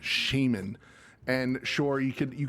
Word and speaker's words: shaman: is when when it when people pronounce shaman as shaman and this is predominantly with the UK crowd. So I'm sorry to the UK listeners if I just you know blanket I don't care if you're from the Britain brush and just you know but uh it drives me up the wall because I'm like it's it's shaman.